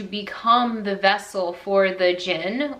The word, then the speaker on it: djinn: the vessel for the djinn, which it's pronounced, I guess, just Jinn, but it's D-J-I-N-N, but it's supposed to be like a genie.